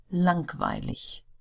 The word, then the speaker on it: langweilig: Words ending in IG are pronounced like the German word ich. So it almost sounds like as if they were spelled ICH, but it's not. It's IG. Billig, 20, langweilig.